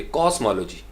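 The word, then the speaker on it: cosmology: तो इसको वो पढ़ेंगे कॉस्मोलॉजी, कॉस्मोलॉजी, एम ओ एल के ऊपर स्ट्रेस है, ये नहीं कहेंगे कॉस्मोलॉजी या कॉस्मोलॉजी, नहीं, कॉस्मोलॉजी, कॉस्मोलॉजी।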